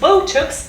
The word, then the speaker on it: Botox: done it guys and botox is transcribed with a oh diff tongue and this pot sound at the end whilst buttocks is transcribed